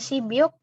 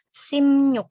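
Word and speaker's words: 십육: benya dibaca m hiunya dibaca nyu Jadi bukan Cibiuk yang benar adalah Sim yuk cara baca tulisnya gimana tulisnya tetap seperti ini 16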